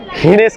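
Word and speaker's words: Ginés: chocolate area श genius हिनेस कहो genius नहीं जी को यहां पे एच प्रोनाउंस करते हैं और ये देखो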